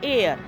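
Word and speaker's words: heir: अब आ जाइए एयर। एयर मतलब उत्तराधिकारी होता है। एच ई आई आर एयर मतलब उत्तराधिकारी। तो यहां भी एन एयर होगा क्योंकि यहां पर एच जो है सोसा साइलेंट है।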